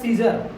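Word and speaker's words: Caesar: जर ठीक है तो सी ई ए एस ई आर सीजर यहां पर ए का प्रयोग क्या हो गया नहीं हुआ मतलब ए एक तरफ से कहा जाए तो साइलेंट भी है उसका कोई उच्चारण नहीं होता है ठीक है वो चुप रहता है है ना बाकी ये सब अपना काम करता है चलो उसके बाद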